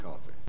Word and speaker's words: Coffey: Your name is Coffey. Like a drink. Mm-hmm. Only not spelled the same.